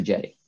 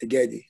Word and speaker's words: Aggedi: and recommended actions dr jetty all right thank you all uh for having me a pleasure to be here um actually my just for clarification my name is pronounced aggedi uh like eddie so for those who